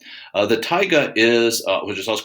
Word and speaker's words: taiga: something to eat now the tiger that's pronounced kind of like not a lion but a tiger uh the taiga is uh which is